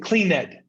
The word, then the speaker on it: cleaned: Cleaned, limpo, cleaned. No, the N goes directly. This is a D. These were the D sound, cleaned, cleaned, cleaned.